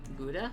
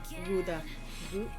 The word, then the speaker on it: Gouda: Is it My G's are actually still like really German. Like influenced. with the hard G. Gouda. Gouda? Oh, in the back of the throat.